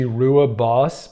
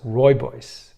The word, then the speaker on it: Rooibos: So Rooibos tea is commonly, you look at it phonetically, it looks like it should be Rooibos, but it's Rooibos.